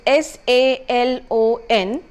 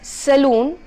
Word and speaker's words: salon: as in CAS H the next word is s a L o n all right it is to be pronounced as a salon and not as saloon again a common utterance by most of us